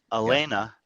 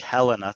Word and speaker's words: Helena: lesson yes Elena katala Elena with an a sounding if you scroll to the bottom I don't know if she's even on here she did not end up competing is spelled with an H it looks like Helena to us and his girlfriend is